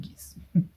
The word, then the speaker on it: Geass: Alors vous le prononcez comme vous voulez, moi je dis Geass.